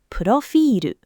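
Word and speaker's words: プロフィール: Read this one out loud before I do. Profiru. Built syllable, long vowel, no cluster standing.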